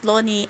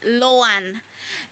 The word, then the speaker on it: LOANI: an early childhood teacher I would say the correct pronunciation of the word in short in abbreviation letters should be lowan because when we look